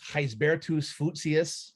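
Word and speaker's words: Gisbertus Voetius: lat it's latin uh it's latinized dutch you know heisbertos lucia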